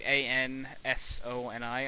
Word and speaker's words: Ansoni: Like A-N-S-O-N-I, I think, or something like that. Oh. That's how it would be pronounced.